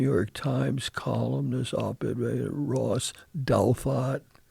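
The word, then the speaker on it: Douthat: the the New York Times columnist oped Ross Dalat D O U T H A Datot you pronounce it.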